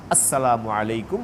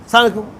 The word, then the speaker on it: আসসালামু আলাইকুম: শুদ্ধ ভাষায়, শুদ্ধ ভাষায়, শুদ্ধ উচ্চারণে, স্পষ্ট করে আওয়াজ করে শুনি মতো সালাম দিব। আসসালামু আলাইকুম ওয়া রাহমাতুল্লাহ, সালাম আলাইকুম, সালাম আলাইকুম, এরকম না।